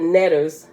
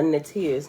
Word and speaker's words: neter: Okay, a nettiers, netter, pronounced a few different ways.